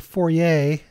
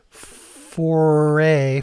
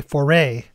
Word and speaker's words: foray: out it reflected the Stone's brief four-way 4A Fourier how do you say that foray foray into psychedelia and Baroque Pop balladry I don't